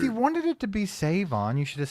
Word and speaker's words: Shavon: Savon, that's how it's pronounced. Savon with no H. Just a silent H.